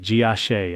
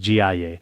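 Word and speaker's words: 迦叶: In the past, sometimes we pronounced it Jiashe and sometimes Jiaye, but in Sanskrit it seems it's pronounced Jiaye. In that case, Jiaye should be fine. In China, it's commonly pronounced Jiashe.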